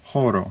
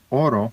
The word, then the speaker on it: horo: silent but in esperto you have to pronounce the h it's horo it's not Oro because that means gold that's a different word